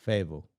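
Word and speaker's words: Fayetteville: y d v l Fable fa wow okay wouldn't you say that saquan like fade F yeah yeah they don't really pronounce the T they're leaving out some some letters okay I think that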